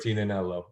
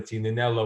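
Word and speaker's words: Tignanello: a couple strikes because I always refer to Tina nello with it with a G but you're not supposed to pronounce it I go to Alessandro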